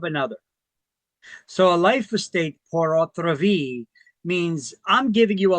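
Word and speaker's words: pur autre vie: There's something called a life estate portra. Now, that's a Latin term. I know it it's pronounced and it's and it sounds the same in French, but the spelling is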